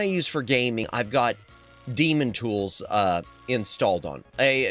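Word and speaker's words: Daemon: Dam Demon Tools Light. I keep wanting to say Damon Tools.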